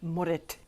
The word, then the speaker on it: Moorit: knows what that is Moret is Shetland e for brown and it's actually pronounced morit or something like that so I coat the